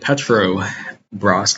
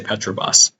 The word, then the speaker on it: Petrobras: I wanted to highlight Petro Bros I always want to say Petro boss Petro Bros as I